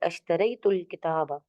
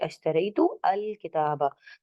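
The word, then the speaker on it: اشتريتُ الكتابَ: or I can say ashtaraytu al kitaba. So here, if you are breaking the word by joining ashtaraytul kitaba, you can notice that I didn't pronounce the alif.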